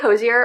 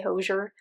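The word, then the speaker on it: Hozier: I think I just say Hosier more like naturally than Hosier, but I feel like Hosier is like probably more of like the correct pronunciation.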